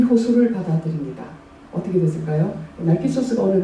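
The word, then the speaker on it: Narcissus: 그래서 나르시스는 영어식의 발음이고 나르키소스 하면 그리스식의 발음입니다.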